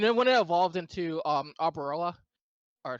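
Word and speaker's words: Arboliva: And then when it evolved into Arborella, or how you pronounce it, I believe. yeah, Arboriva, yeah.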